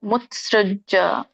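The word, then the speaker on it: ಮುತ್ಸೃಜ್ಯ: ಹರಿಕೃಷ್ಣ ಇದೊಂದು ಉಚ್ಚರಣೆ ಶಾಸ್ತ್ರವಿಧಿಮುಜ ಮುತ್ಸೃಜ್ಜ ಮುತ್ಸೃಜ್ಜ ನೋಡಿ ಬಿಡಿಸಿದಾಗ ಶಾಸ್ತ್ರ ವಿಧಿಂ ಉತ್ಸೃಜ್ಜ ಬರುತ್ತೆ ಉತ್ಸ ಆದಮೇಲೆ ಸ ಆಮೇಲೆ ಒಟ್ರಿ ಉತ್ಸೃಜ್ಜ ವರ್ತತಿ ಹಾಗೆ ಹೇಳಿ ಶಾಸ್ತ್ರವಿಧಿ ಮುತ್ಸೃಜ್ಜ ವರ್ತತಿ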